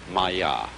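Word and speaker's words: माया: i'm going to write that down for you pronounced maya and this word comes from a root in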